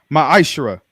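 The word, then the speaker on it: ma'aser: chap chapter 3 8-10 means 10th in the Hebrew and it's pronounced maishra 10% of every penny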